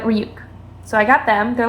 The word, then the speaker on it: Ryuk: I say his name wrong a lot. Sometimes I just say Rook, but Ryuk.